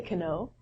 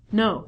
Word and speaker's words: know: However we don't say cano. We reduce this to no. So not only the beginning letter k is silent but the w is also silent.